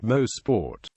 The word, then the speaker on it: Mosport: The name Mosport is a contraction of motorsport came from the enterprise form to build the track. It is pronounced is the two words actually sound. Most sport history.